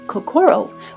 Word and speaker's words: kokoro: We have lovingly Americanized the pronunciation of kakoro with the emphasis of core in the center because the heart is in the center of everything we do.